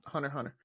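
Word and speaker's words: Hunter × Hunter: Hunter Hunter. That's one. It'll say Hunter X Hunter. That's a dope show if you want to get into that one.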